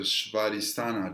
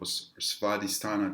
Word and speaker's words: Svadhisthana: So the orange color is going to be your second chakra, which is called the Svadhisthana chakra, or Svadhisthana chakra, however you want to pronounce it.